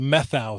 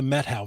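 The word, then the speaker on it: Methow: it another way so I had said meth the methau valley and it's not it's the Meadow Valley so I apologize it's not meth it's met isn't it funny I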